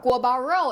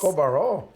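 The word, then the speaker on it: 锅包肉: Guo Bao Rou in Chinese. Guo Bao Rou. Go Baro. Yes, good pronunciation.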